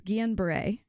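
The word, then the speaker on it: Guillain-Barré: to you because I I fear butchering both the pronunciation and also what it means it's unusual and so it's Guillen Bray yeah if you see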